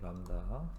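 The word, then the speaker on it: λ: 이건 람다라고 읽으시면 되고, 이건 람다.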